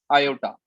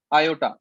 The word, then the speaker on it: iota: Under root जिसे कि हम बोलते हैं आयोटा। आयोटा, IOTA, आयोटा इसका प्रोनाउंसिएशन है आई, जिसकी वैल्यू होती है हमारे पास अंडर रूट ऑफ -1।